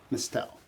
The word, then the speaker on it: Mestelle: we got inclusive idaho in the house mustell did it pronounce that right yes yes that's very good